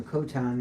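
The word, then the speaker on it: Coton de Tulear: So your Coton is actually the correct way to say it, but your Coton is half of these guys.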